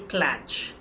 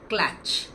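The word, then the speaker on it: klatch: A birthday clatch. Does that sound ideal to you? Clatch, which is spelled as K L A T C H,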